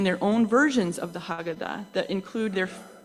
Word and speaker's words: Haggadah: Many families maintain their own versions of the Haggadah that include their Haggadah, thank you, Charlie. I always mispronounce that.